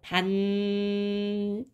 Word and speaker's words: 밭이랑: 얘를 발음이 최종적으로 어떻게 나냐면 반니랑이라고 발음이 돼요. 반니랑.